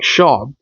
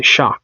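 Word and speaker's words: Shough: I was saying Shaw, but I heard somebody say Shock today. Tyler Shock. I was like, "Okay, well, guess I've been saying it wrong."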